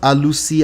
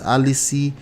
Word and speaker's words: Alusi: She mispronounced Alusi as Alici sarcastically.